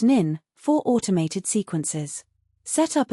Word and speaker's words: n8n: For follow-ups, use N A10, pronounced nin, for automated sequences.